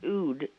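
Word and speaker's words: oud: you're talking about yeah it's pronounced Ood because it's how they pronounce it on the radio but then again they are wrong sometimes yeah well I'm gonna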